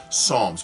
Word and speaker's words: Psalms: Psalms Psalms is spelled p-s-a-l-m-s Psalms but the p is usually not pronounced okay Psalms is what